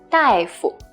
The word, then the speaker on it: 大夫: So it's this word, 大夫.